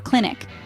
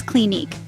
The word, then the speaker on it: Clinique: finally we ended with Clinique it's not click or clinic the proper way to say it is Clinique with an emphasis on the second syllable and there you go